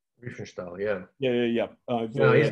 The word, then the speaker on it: Riefenstahl: He's a kind of his own Lenny how do I pronounce it? Riefenstahl? Riefenstahl, yeah.